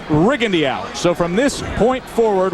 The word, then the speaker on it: Rigondeaux: Well, if you're wondering, his name has been pronounced Riendo through most of his amateur career. But in prepping for this fight, the camp was very clear in saying that the preference is rigend.